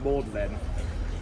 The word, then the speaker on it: Magdalene: from the Bible but used the French pronunciation of her name mlin in order to get